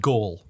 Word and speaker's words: Gaul: druids could be found in uh britain and gaul which is modern day france okay remember asterix